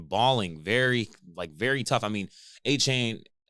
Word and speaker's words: Achane: I mean, Achane, is it Achane or Achan? I believe it's Achan. Achan. Is there an E at the end of it?